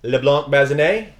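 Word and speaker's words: Leblanc-Bazinet: Camille, LeBlanc, Bazinet, Brian Mackenzie, I'm Doug Katona.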